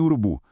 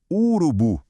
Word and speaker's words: urubu: Pense em urubu. Ninguém fala urubu, certo? A gente fala urubu.